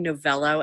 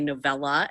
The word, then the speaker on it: Novello: easily butchered but then I became novello and people call me novella and I'm like it's an O oh um Facebook same